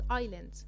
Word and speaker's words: island: قاعدتنا بتقول S isn't pronounced if it comes between the letter I and the letter L. يبقى لا تنطق حرف الاس اذا جاء بين حرف الاي وحرف الال. يلا بينا نشوف examples.